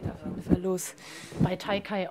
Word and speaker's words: TEIKEI: jeden Fall los bei taikai Olive genau richtig ausgesprochen oder ja kommt aus dem japanischen ah okay übersetz mal bitte